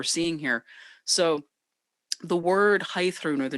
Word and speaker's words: Heiðrún: might take note that i pronounce the name differently of this magical beast than i pronounce my name and that's because high throne is the actual old norse pronunciation of this name but when i received